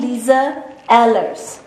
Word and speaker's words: Lize Ehlers: I am Lisa Ellers. Google it. Ask Google to uh pronounce it for you or something.